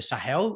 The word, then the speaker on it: Sahel: were traveling through this is the uh the sahel region am i pronouncing it correctly that's right so um it